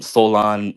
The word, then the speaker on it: Soulaan: Solon means it's spelled Soulaan.